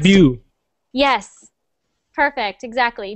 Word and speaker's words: debut: english and it's pronounced debut yes perfect exactly debut so we don't pronounce the t so just debut jenner one more time